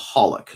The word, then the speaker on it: xxxHOLiC: Um, one of my favorite anime uh something called Hollock. Now, it's spelled xxxholic, but is not that's not what it's not.